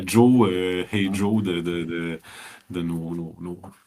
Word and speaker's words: Jos: Est-ce que c'est bien le violon de Joe ou violon de Joss? Parce que c'est Oui. J-O-S. C'est le violon de Joe.